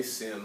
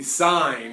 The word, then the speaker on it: sine: SI in you know please don't say sin I might pick on you a little bit all right it is the sine of angle a alright it is spelled